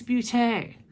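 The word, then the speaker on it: beauté: people go buuuut it's a spute a because there's a little symbol over the e that makes it a long e boot a pewter ace bootay just let you know it drives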